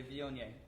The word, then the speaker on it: Viognier: how to pronounce it take a couple seconds and now you can say vyon yay and a couple drinks